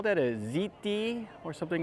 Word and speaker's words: Hti: they call that a ziti or something like that it's called it's spelled HTI but they pronounce it ziti and I guess it